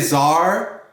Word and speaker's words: czar: and perfumes see is forzar can you say czar the fascinating czar is secretly part check oh